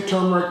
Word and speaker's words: turmeric: I like to say turmeric mainly because that's the way it's spelled, and I truly believe that was the way it was meant to be pronounced, but I digress.